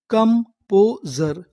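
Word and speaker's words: composure: एस यू आर ई पर अगर आपको इंग्लिश में कहीं पर एस यू आर ई लिखा मिले, तो उसे पढ़ते हम लोग जर। क्या पढ़ते हैं? जर। तो, हमारी पूरी मीनिंग क्या बनी? कंपोजर कंपोजर कंपोजर कंपोजर का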